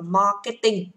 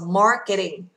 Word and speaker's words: marketing: Anh Mỹ nên là cô sẽ không đọc là marketing mà cô đọc là marketing. Marketing. Âm T kèm giữa hai nguyên âm chúng ta được quyền đọc gần giống như D ở tiếng Việt, đúng không ạ? Nó là flap T.